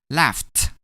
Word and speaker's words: laughed: When we add a D to laugh, we're going to pronounce it as laughed.